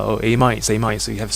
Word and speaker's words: amide: Amides. In fact, this word here is pronounced as amide. People always mispronounce the E. It's actually a silent E, so it should be amide.